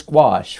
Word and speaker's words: gouache: that word right there so it is gouache for the way anybody wants to know like I did go